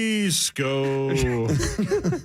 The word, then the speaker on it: Esko: How else would you possibly pronounce that? Isco. Esco. I guess East Coast is a possibility. Yeah, thank you. Mm-hmm. Esco.